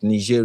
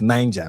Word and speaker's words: Niger: Niger Republic. Sorry, you know, it may look like Niger, but it is pronounced Niger because it is French.